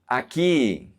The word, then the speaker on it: aquí: Aquí, aquí. Here. The U is silent.